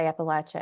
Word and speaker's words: Appalachia: region especially in the central and southern parts will say Appalachia and they will die on that mountain it you don't say it any other way okay there's a there's